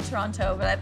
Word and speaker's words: Toronto: to Teo that's it what's the right way to pronounce it I say Toronto okay formal that is